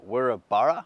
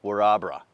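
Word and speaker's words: Wirrabara: straight away but orabra I pronounced it we're a Borough which is how it looks in the spelling of things but it's actually called warabra just hassle him in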